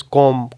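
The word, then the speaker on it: comb: before T आ जाए एट द एंड ऑफ the word tub बी को pronounce नहीं करेंगे such as कॉम कॉम बी नहीं pronounce करते कॉम कॉम डाउट देन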